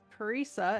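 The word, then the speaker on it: Parisa: not from here well uh my name is paresa and it seems like you guys are in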